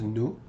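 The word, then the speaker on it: nous: Notice how I did not pronounce the S over here.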